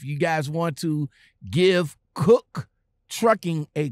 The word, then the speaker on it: Koch: It's spelled K-O-C-H, but it is pronounced Koch Trucking.